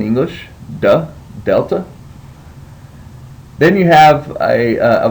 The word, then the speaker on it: delta: your next letter is Delta as the D and dog and so it would be pronounced as du just like a D in English du Delta then you have a